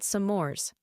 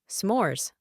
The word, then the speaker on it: s'mores: graham crackers and chocolate they're called sores Michael chuckled s'mores one syllable I wish to try